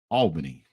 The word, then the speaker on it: Albany: or who it was but uh it is pronounced Albany my channel is the only one working right